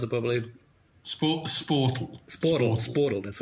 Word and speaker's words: Sportal: Or how do you pronounce it properly? Sportal.